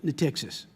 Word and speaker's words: Natixis: Now, you folks, your organization, Natixis, am I pronouncing that correctly?